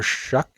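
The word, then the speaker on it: Shough: So, they drafted Tyler Shuck, which I still don't understand how that's how you pronounce his name when it's written that way. So Tyler Shuck as uh a fourth round quarterback I want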